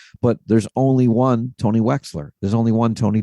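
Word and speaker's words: Wechsler: Facebook and Tony and my last name is is Wexler but it's spelled we CHS l r and uh you can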